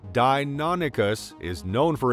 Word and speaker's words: Deinonychus: This remarkable creature, pronounced Deinonychus, is known for its unique features, hunting prowess, and ecological significance during the middle to late Cretaceous period in North America.